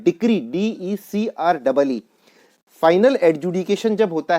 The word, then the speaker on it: decree: इसके बाद है डिक्री, DECREE, इसको बहुत लोग गलत प्रोनाउंस करके डिग्री बोलते हैं, तो डिग्री नहीं, ये वर्ड होता है डिक्री, DECREE।